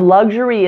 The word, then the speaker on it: luxury: Now, the beginning of luxury is easy to say. It's just a standard clear L followed by a short U. This short U sounds like the U in fun, up, and bug.